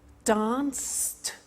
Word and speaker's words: danced: Watched, danced, eliminate the E, pronounce the T.